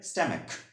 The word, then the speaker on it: stomach: ঠিক আছে, তো আমেরিকান ইংলিশের সঠিক উচ্চারণটা কি হবে? স্ট্যামেক, স্ট্যামেক।